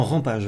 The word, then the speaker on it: Rampage: Non, Rampage, vraiment. Il se prononce comme ça.